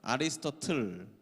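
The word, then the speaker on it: Aristotle: 플레이토 뭐 이렇게 읽고 아리스토텔레스 이런 이름이 안 나오더라고요. 아리스토틀 제 발음이 지금 틀렸지만 제대로 못하지만 아리스토틀이라고 이야기하더라고요. 근데 여러분 철학을 배우다 보면 이 세상 사람을 배우지 아니할 수가 없습니다.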